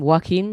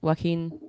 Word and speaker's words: Joaquin: Joaquin, is it Joaquin Phoenix? Joaquin.